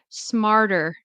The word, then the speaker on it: smarter: But generally speaking, we will pronounce it with um a D.